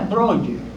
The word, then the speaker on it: Breuer: Ahí está como se escribe Breuer. Se pronuncia Breuer.